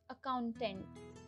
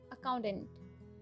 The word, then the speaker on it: accountant: administrator administrator next is accountant accountant that t is silent here accountant next is anesthesiologist anesthesiologist